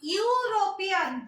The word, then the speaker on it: European: But when you are pronouncing European, this U sound, E sound is not there. European. U से sound हो रहा है. European. That's why when U sounds like U, the article will be A.